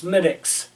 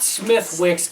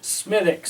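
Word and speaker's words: Smithwick's: Wis SM smus board SM walk no it's smiix that's never wrong Smith show that to the camera it's not Smith Wix it's Smith pronoun that way smithx Smith it's an Irish beer from the makers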